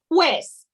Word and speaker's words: juez: Honorable, and then you would say judge, which is juez, J-U-E-Z.